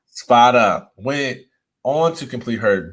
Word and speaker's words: Spada: how do you say your last name spada spada went on to complete her dietetic internship through